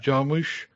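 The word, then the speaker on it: Jarmusch: Um, is that how you pronounce his name? Jim J. Jamush.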